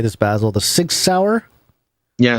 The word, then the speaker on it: Sig Sauer: don't know how to say this, Basil, the Sig Sauer? Yeah, Sig Sauer.